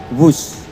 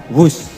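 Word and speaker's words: Whoosh: Sekali lagi W H O O S H tapi bacanya wus.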